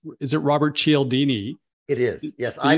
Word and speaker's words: Cialdini: name wrong i guess it's is it robert cialdini it is yes i mispronounced it just said it right yes yeah